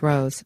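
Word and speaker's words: Roos: unnecessary the doj is Nicholas ruse whose name is pronounced Rose by the way doesn't think the information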